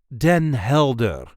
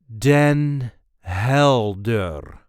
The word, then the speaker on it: Den Helder: This is the way we say Den Helder. Den Helder. There is a light emphasis on the first syllable of the second word. Den Helder. Den Hel-Der. Den Helder. Den Helder.